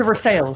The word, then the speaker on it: Versailles: My favorite pronunciation is Versailles, Kentucky. Versailles. Oh, it's Versailles.